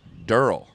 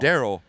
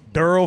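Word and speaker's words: Derl: Me and one of my best friends, white trash name, Durrell. Durrell. Not Daryl, but D-E-R-L.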